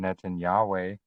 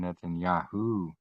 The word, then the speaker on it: Netanyahu: It's not Benjamin Netanyahe. It's Benjamin Netanyahu.